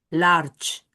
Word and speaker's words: large: La G que para nosotros tiene un sonido distinto, para ellos en este caso es sh large. La e al final no se pronuncia.